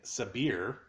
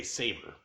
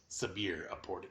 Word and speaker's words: Sabïre: Because my head wants to say Saber. Right. But it's Sabïre, according to the main dude.